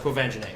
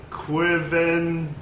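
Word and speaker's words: Quvenzhané: I would never in my life guess that it's pronounced Kwavanjane. Yeah. yeah, I would Yeah. Never. You never guess it. That's So anyway. If you just looked at it, you'd be like Quivenzane.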